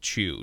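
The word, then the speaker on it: Qiu: chairman yah Phu Chu spelled Qi you but pronounced Chu chairman Yahoo Chu and leaders of a of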